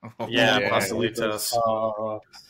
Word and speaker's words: pastelitos: Pastelitos.